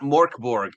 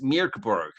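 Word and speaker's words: Mörk Borg: I wonder if people make the names without realizing that they've been pronouncing it wrong, right? Because it's not Morborg, it's Mirkborg.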